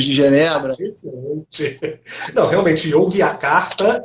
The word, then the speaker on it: Yogyakarta: É Yogyakarta, né? É Yogyakarta, o G é mudo.